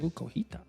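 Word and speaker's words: cotija: I think that's how you pronounce it. Elote. And you can get it with cojita cheese or Cojita.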